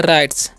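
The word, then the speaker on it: writes: है इसे पढ़ते हैं राइट्स ओके यहां पर डब्लू साइलेंट होता है यानी कि उसका उच्चारण नहीं होता है ओके अब हम इन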